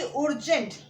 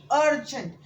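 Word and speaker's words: urgent: मैं ये नहीं बोलूंगी उर्जेंट, मैं क्या बोलूंगी? अर्जेंट। सो क्या प्रोनाउंस आता है? यू के जगह पे अ आता है, अर्जेंट।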